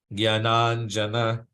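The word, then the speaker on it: ज्ञानाञ्जन: Jnananjana. Jnana. Jnananjana. Jnana. Jnananjana. Jnana. So you notice how we pronounce the first two A's as long A's and the second two A's as short A's?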